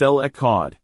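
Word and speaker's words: אל אחד: which in Hebrew is L Ahad pronounced L EOD this name declares God's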